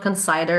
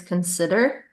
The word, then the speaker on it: consider: most common words uh it's not conder it's consider even though again it may sound a little bit counterintuitive but it's considered not